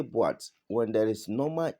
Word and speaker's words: boîte: Because when accent circonflexe is on the letters like e, o, and then u, okay, normally, you don't feel them, they don't play any major role because without them you can pronounce the words.